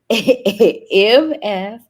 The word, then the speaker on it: Mfitundinda: So it's not spelled like it sounds, but it's Mfitundinda.